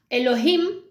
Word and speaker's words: Elohim: Que la habían Elohim realmente es como dos, ¿no? Tiene dos sílabas. El y Elohim. Entonces, him es plural en hebreo.